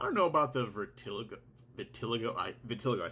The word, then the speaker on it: vitiligo: __ ] I don't know about the vertil Vitiligo I Vitiligo I said it wrong before Vitiligo